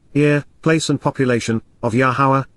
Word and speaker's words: Yahowah: city and inhabitants ear place and population of yahuwah yahawa the proper pronunciation of yahuwah are a lower God is